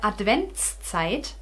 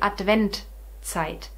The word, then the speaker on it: Adventszeit: And the Adventszeit, it's very difficult to pronounce for me now as a German, although I learned it this way because I lived 11 years in Austria and they say Adventzeit, Adventkranz. And we in Germany say Adventszeit, Adventskranz.